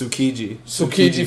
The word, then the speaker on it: Tsukiji: I would say you don't pronounce the T. No. So it's Tsukiji Fish Market.